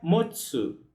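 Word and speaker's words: 持つ: Já o verbo ter ou possuir, no sentido de segurar alguma coisa também, se pronuncia motsu.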